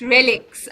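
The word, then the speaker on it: RELX: a very interesting company it's pronounced relics i wish it was relaxed um and it's it's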